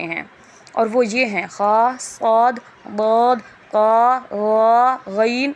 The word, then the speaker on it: خ: تلفظ سے پرہیز کریں، یعنی بے، تے، سے، ہے، خے، توے، زوے وغیرہ ہرگز نہ پڑھیں، بلکہ با، تا، سا، ہا، خا، قا، غا پڑھیں۔ یعنی جس طرح